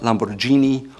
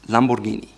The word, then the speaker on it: Lamborghini: It's not Lamborghini or Lamborghini, it's Lamborghini.